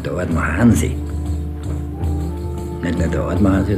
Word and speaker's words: Artmann: Blödsinn, das heißt Ordmann. Wir heißen Ordmann bei uns aus. Ja, der Ordmann Hansi ist da. Das ist genau in der Betonung, der Ordmann Hansi.